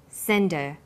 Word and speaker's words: send her: her is not stressed we drop the initial hurt sound so it's pronounced sender what did you send